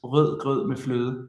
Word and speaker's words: rød grød med fløde: And if you can pronounce this rød grød med fløde, rød, because in Hungarian you have this r where you roll, but in Danish it's like the German where you rød grød med frød.